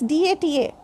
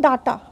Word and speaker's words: data: DATA. Some people say data. So it's not data. This is data. Data. Not a. This is data. Ta and a. Data. A is the weakest sound symbol.